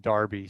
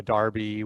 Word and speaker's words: derby: north london derby um darby is spelled like derby but they pronounce it darby so so when everton plays liverpool it's you know a darby when the two manchester